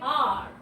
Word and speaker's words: hour: He spoke for an hour. He spoke for 1 hour. Now here H is silent.